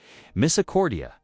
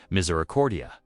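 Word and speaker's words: misericordia: Their lesson was punctuated by laughter as Greta wrestled with particularly challenging Latin pronunciations. Miss Accordia, she attempted the word tangling on her tongue. Miserordia, Alrich corrected, fighting back a smile.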